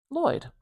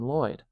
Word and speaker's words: Lloyd: Ooh, I'm going to pronounce this according to spelling. I'm going to pronounce it Lloyd. Lloyd. And that's how most English speakers would pronounce this name Lloyd.